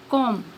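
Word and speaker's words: comb: पहले है silent B बी इज not pronounced B pronounce नहीं किया जाता या बी आवाज नहीं देता when following M एट द एंड ऑफ a word जब किसी लब्ज के आखिर पर एम के बाद आए फॉर एग्जांपल क्लाइम क्रम डम कॉम नेक्स्ट है साइलेंट सी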